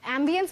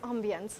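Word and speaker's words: ambience: एम्बियंस भी होता है किसी एक्सेंट में और ऑम्बियंस भी होता है, बट अगर हम कॉमन प्रोनाउंसिएशन की बात करें सो इट्स ऑम्बियंस.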